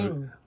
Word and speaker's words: Ng: So, Eng. how do you pronounce that? Eng. Eng? N-G, Eng.